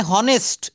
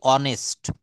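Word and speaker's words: honest: অর্থাৎ এখানে হনেস্ট এটা উচ্চারণ করছি না। উচ্চারণ করছি অনেস্ট।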